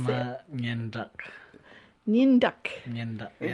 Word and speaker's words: Nyandak: Nyandak.